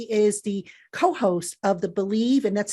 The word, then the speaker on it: BLEAV: joe valerio he is the co-host of the believe and that's spelled b-l-e-a-v uh in chiefs podcast so i